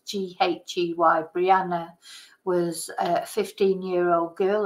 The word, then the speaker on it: Ghey: talking about the Brianna J case um I'm not sure if you pronounce it J or gay but it's ghy Brianna was a 15-year-old